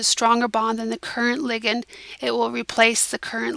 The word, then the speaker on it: ligand: this as a ligand think about this being very similar to ligament when you're talking about the body so that is the